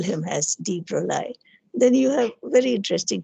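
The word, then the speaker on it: de Broglie: supposed to call it him call him as deep rolie then you have very interesting terms like uh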